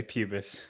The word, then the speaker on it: pubis: SM than me PR pubus how do you say pubus he say pubis John said pubis you for bro okay